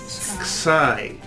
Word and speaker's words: xi: Xi. Yes. It's a K and an S, like box, rocks, and socks.